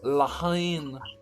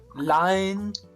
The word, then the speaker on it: La Haine: mr mr ease yeah they don't pronounce the h right okay so so